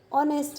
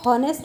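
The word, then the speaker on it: honest: तो यहाँ पे हम क्या बोलते हैं, हॉनेस्ट बोलते हैं, ह से शुरुआत नहीं करते हैं, ये ह क्या है, साइलेंट है।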